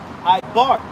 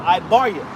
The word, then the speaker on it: Eber: Now, Eber in the Hebrew, you would pronounce Eber Ibar. Okay, or Ibaria.